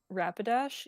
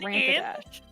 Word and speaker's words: Rapidash: I had a friend that refuses to pronounce it Rapidash. He thinks that there's an M in that word. He thinks there's an Rampadash. Rampadash.